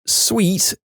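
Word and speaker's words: suite: haven't been clear that it's sweet s UI T she responds with this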